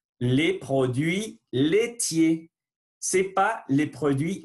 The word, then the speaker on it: laitiers: Les produits, voilà, le son U, les produits laitiers. Ce n'est pas les produits laitiers, sinon laitiers. A plus I sont E. Les produits laitiers. Voilà, je ne prononce pas le R et le S final.